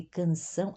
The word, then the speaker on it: canção: O AOT, o AO final de canção é uma AUN, sempre, né? Canção, AUN.